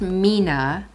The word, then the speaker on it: 3INA: non-powder eye shadow and i found this it's pronounced mina and they're little pots uh this one is